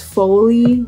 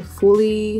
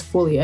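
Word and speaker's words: Folly: so the brand is foley f-o-l-l-y fully no i don't think it's fully i think it's foley fire see my pronunciation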